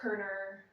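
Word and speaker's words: Körner: And he put the O with the 2 dots above it, but it's pronounced Korner.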